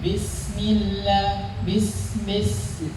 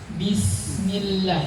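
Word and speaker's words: بسم الله: Kalau misalkan kasrah, pengucapannya rahangnya turun. Bismillah.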